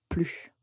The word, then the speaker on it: plus: plus souvent plus souvent donc on ne prononce pas la lettre S on dit plus une chose qu'il faut